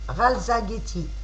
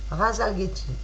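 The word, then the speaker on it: Rasalgethi: Amis Sagittaires, votre étoile s'appelle Ralzageti. Je répète, Ralzageti, qui s'écrit R-A-S-A-L-G-E-T-H-I. R-A-S-A-L-G-E-T-H-I. Razalgeti.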